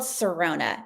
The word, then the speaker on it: Tsirona: So I made the huge mistake when starting my business to have a silent letter in my business name. So it's called Sirona and it's Tsirona.